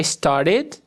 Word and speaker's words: started: Yesterday I started, id, já vou adiantar aqui novamente, esse ed vai ter som de id.